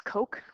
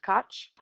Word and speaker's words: Koch: And apparently I learned that I was pronouncing this wrong. It's Coke, not Koch.